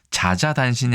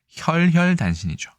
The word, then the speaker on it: 혈혈단신: 그 다음 단어가 더 중요합니다만 자자단신이 아니라 혈혈단신이죠. 홀홀단신도 아니고 혈혈단신이 맞다라고 설명하는 글을 보신 적이 있을 겁니다.